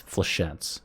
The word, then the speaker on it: flechettes: I know how to pronounce this word. I meme. It's flechettes and skewer.